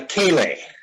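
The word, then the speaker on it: ceilidh: before the music okay see that word there c c-e-i-l-i-d-h does anybody know how to pronounce that any guesses it's called a k-lay and it's irish as well as scottish and aka is just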